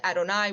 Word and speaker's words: Adonai: When we see this, we will pronounce it as Adonai.